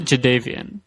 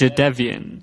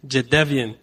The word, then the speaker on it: Jadeveon: story from this draft is how do you pronounce this guy's first name? Because it is not Jadeveon. Oh, sorry, Swap. What is it? Darren? It is Jadeveon. Jadeveon.